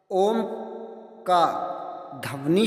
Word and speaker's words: ओम: पालन हो जाता है यहां पर ओ के आगे तीन लिखा गया है इसका अर्थ है कि ओ का उच्चारण तीन मात्राओं में किया जाता है गुरु श्री देव जी